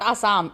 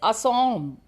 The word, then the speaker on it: Assam: It is not Assam, it is Assam. In the Assamese language only you pronounce it in that manner.